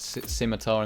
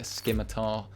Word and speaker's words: Scimitar: Uh the Scimitar, and I got a load of stick because I basically mispronounced Scimitar in the review. I called it a Skimitar, and you can get over that.